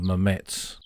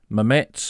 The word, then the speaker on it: Mametz: Mametz, or Mamet to the locals, they pronounce it both ways there, and having asked many